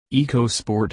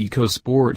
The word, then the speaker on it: EcoSport: spirited feel of the eco sport around town the Eco part of the name also doesn't really seem to apply here Ford insists the first two syllables are pronounced like the word echo which is confusing coming